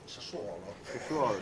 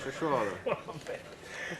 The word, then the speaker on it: Sassuolo: Non si dice Sassuolo, si dice Sassuolo. Sassuolo.